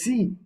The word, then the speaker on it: sie: It's spelled as SIE, but it is pronounced as C, and HIR, which is pronounced as here.